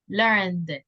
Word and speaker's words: learned: Okay, the sound is the D sound, con D, learned.